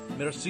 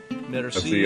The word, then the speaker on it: merci: Merci How about beaucoup. thank you? Oh, merci. Okay. Repeat after me. Merci beaucoup. Merci beaucoup.